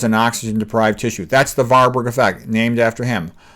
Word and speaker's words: Warburg: That's the Warburg effect, named after him. The W's are often pronounced like V's.